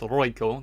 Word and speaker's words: Roikko: Roikko. Because I know they have that kind of like, you know, sound to their R's when they talk.